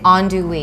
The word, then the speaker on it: andouille: think most of us struggle with how to pronounce, but you say andouille.